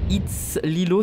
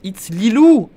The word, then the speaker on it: It's Lilou: It's Lilo, ça se prononce It's Lilou.